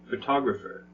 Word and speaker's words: photographer: right first syllable and how about photographer where's the stress photographer mm-hmm that's right second and it's the same